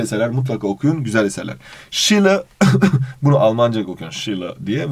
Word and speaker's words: Schiller: Schiller diye okunuyormuş gibidir ama aslında Almanlar Schiller diyorlar.